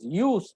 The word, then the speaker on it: jus: Just is to be pronounced as use also, because J is silent there in Latin.